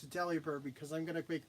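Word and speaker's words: Delibird: It's it's it's it's it should be pronounced deliberate, right? No, it's deli bird because I'm going to make this thing into a sandwich.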